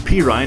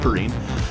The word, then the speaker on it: Perine: to le michael peerine i've been saying his name wrong this whole time the entire first game of the season that we played i said it wrong p ryan it's not perine i said perrine and now 27-24 with